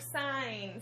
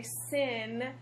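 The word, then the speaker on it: sine: and you're supposed to pronounce it like sign So when you say sin I'll be like oh it's like nails on a chalkboard for me so sign sign sign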